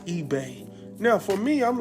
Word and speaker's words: eBay: is up here saying oh the e space Eve and Keith himself has to correct him and let him know that is eBay now for me I'm